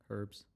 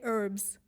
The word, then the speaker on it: herbs: how they say herbs herbs no they don't pronounce the h they say herbs I think in some